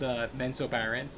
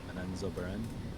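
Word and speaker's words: Menzoberranzan: How did they pronounce it? Menso Baron. But the real way, I forgot what it was. It was like they emphasized these middle letters. Menenzo Beren.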